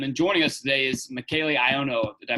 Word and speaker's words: Michele Ionno: walid here and then joining us today is michaelano did i pronounce that right yes sir okay some of